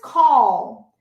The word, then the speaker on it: call: Porque esse call é um L, então a língua tem que ir atrás aqui do dente da frente.